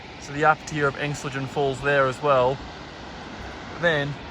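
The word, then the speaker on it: Engstligen: the views down there, the lower tier of Engstlingen Falls.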